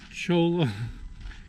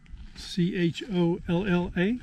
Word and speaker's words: Cholla: We're not sure if we know how to pronounce it correctly, but Cholla Cactus Garden. Cholla.